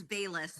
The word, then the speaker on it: Bayless: Like think of it like Baylis. It's like Bayless.